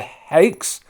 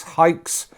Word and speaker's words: Haix: long-winded name correct okay they're the Hakes might be wrong straightaway with the pronunciation there H a I exhales hikes German boot company well-known out